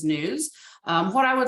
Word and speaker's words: NWSS: I am the program lead for the National Wastewater Surveillance System, NWSS, which we pronounce as NEWS.